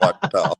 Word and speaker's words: Ouachita: Lake Ouachita. I love it. That's fantastic. Have you been to Lake Ouachita?